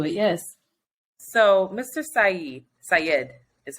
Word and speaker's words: Syed: I listened to it yes so Mr Syed Syed is how you pronounce it was released from prison this week